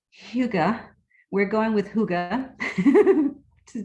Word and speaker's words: hygge: it's a norwegian word right amanda and it's pronounced hyuga we're going with hygge to just make it